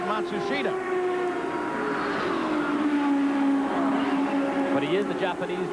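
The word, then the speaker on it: Matsushita: They've changed the pronunciation again. They've given it to us four or five different ways. Now it seems that they have settled on Mashusta. They started the year with Matsushida, but he is the Japanese driver.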